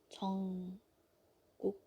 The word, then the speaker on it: Jungkook: Don't do that. Don't pronounce it like that. Light J. Very light. Light as a feather J. Tong. Tong. Your mouth has to go like this. Oh. Tong. Gook. J. O. Gook. Tonggook. Okay?